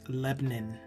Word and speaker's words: Lebanon: does say Lebanon but the way that it's pronounced in Missouri is Lebanon l e b n i n so I used to